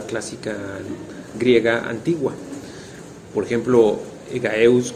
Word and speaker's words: Egaeus: antigua por ejemplo egaeus Que si bien yo lo pronuncié como con j porque así me me lo imprimió mi cerebro y ya está mal dicho no hay una J hay una hay una G egeus es como el padre